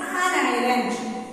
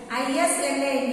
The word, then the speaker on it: island: Sri Lanka is an island. I-S-L-A-N-D. It is pronounced as not as Island.